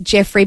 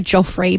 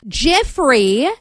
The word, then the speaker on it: Jeofrey: It's spelt Jeofrey, probably pronounced Jeffrey, but I want to say Joffrey, but it's not.